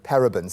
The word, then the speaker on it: parabens: the first obvious question parabens am I even saying it right what are parabens and